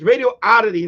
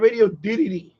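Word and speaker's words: Radioddity: the the company name it's radio aity not radio didd it's radio aity you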